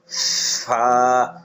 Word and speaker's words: ف: এই হরফটি উচ্চারণ করার সময় উপরের দুই দাঁত, নিচের ঠোঁটের পেট একবার উচ্চারণ, নিচের ঠোঁটের পেট, তারপরে আপনার লাগাইয়া নিচের ঠোঁটের পেটের সাথে লাগাইয়া উচ্চারণ করতে হবে, বাতাসও বের হবে।